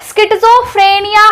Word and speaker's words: schizophrenia: बोलेंगे उच्चारण कैसे करेंगे हम इसका उच्चारण कैसे करेंगे स्किट्जो फ्रेनिया हम बोलेंगे अब स्किट्जो फ्रेनिया का